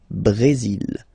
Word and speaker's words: Brésil: Okay, you will pronounce the final L here, and then remember, accent aigu goes like E. Brésil.